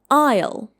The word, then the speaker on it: aisle: Again, we have a silent letter here. It should be pronounced like isle isleisle.